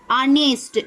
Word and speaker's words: honest: जैसे अगर हम एग्जाम्पल की बात करें तो आवर, HOUR, आवर, ऑनेस्ट, HONEST, ऑनेस्ट। आवर आया ना, यानी कि इसके प्रोनाउंसिएशन में सबसे पहले क्या आ रहा है, अ आ रहा है।